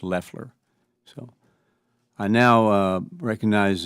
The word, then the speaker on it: Loeffler: The administrator's last name is pronounced Leler.